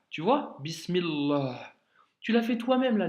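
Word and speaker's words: بسم الله: de sourate Al Fati tu ne dis pas bismi Allah tu dis bismillah tu vois bismillah tu l'as fait toi-même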